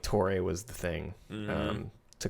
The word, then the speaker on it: TOREI: So it'd be like TOREI, but it's just TOREI. You know, if you just say it, kind of harden the R, and yeah.